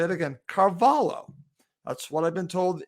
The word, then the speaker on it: Carvalho: told by a friend in spain it's actually pronounced carvalho not carvalho again i'll say it again carvalho that's what i've been told is the proper